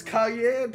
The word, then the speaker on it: Cayenne: It's cayenne pronounced like the pepper pizza game herself.